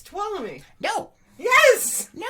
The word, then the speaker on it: Tuolumne: It's Tuolumne.